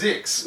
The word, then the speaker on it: ZYX: Also here, I'm just having a look at ZYX, I used to call it, but now they pronounce it Zooks. Zix. Or Zix, Zooks. Lindigo Rizzo corrected me, actually. Did she really? She said it's Zix.